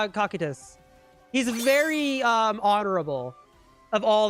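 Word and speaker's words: Cocytus: Tacitus?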